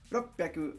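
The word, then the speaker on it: 六百: Japanese people have decided to make it easier on themselves by pronouncing them as Icho, Ropyaku, and Sansen.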